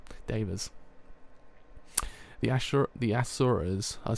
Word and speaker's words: Asura: If you were a god, you'd be an Asura, or as we pronounce it in Japanese, an Ashura.